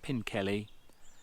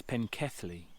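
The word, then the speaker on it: Pencelli: Yes, I've been mispronouncing this completely wrong. Not Pinkelly, it's Penkethly.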